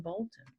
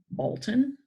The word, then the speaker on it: Bolton: When you say the name Bolton, you kind of say the L and you kind of don't.